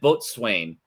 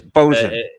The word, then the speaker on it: boatswain: It's spelled boatswain, but it's actually pronounced bosun.